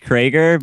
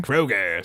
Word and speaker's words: Kroger: name right it it's it's pronounced Krager but it's spelled Kroger Kroger so why is it